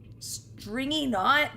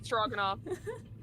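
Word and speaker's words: Stroganov: wrong oh oh okay his name is stroganoff it's strong enough not stringy not okay let's go let's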